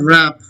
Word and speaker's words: wrap: Wrap, it's not wrap, wrap. You wrap the chocolate with a paper, wrap. W is silent.